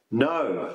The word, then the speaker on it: know: with a silent k words that start with a silent k things like no the verb to no of course uh knee knife Etc so many times a